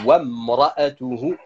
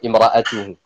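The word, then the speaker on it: امرأته: C'est pour ça qu'on ne la prononce pas quand on dit wamra'atuhu hammalatal hatab. Mais par contre, lorsqu'on commence le mot en question, donc en l'occurrence quand je dis imra'atuhu sans rien avant, à ce moment-là, cette hamza, elle se prononce.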